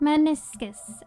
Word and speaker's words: meniscus: How to pronounce many pronounce meniscus. Maniscus.